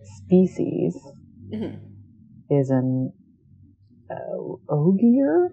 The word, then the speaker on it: Ogier: species is an uh ogier yes good oh gear because i a lot of times in my head i was like uggier or even better oh gear very easy name min